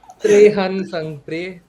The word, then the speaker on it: Trehan Sangpre: हाँ तो भाई आई एम त्रेहन संगप्रिय. इट्स नॉट, इट्स नॉट, इट्स नॉट. ध्यान। It's just Trehan Sangpre, and that's how my name is pronounced.